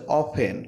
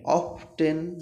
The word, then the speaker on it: often: তারপর কি বলছে দেখো, SHE, শি, OFTEN, এটার উচ্চারণ হচ্ছে অফেন। অফটেন বলা যাবে না।